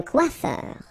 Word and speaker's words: coiffeur: Remember, O-I goes like wa-wa-wa, quoi, and then E-U-R, er. Un coiffeur.